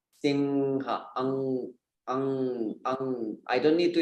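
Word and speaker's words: सिंह: It should not turn into N. It should stay up as a nasal sound. Singha, not Sinha.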